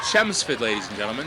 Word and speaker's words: Chelmsford: And it is pronounced Chelmsford ladies and gentlemen the L is silent just in case you're interested.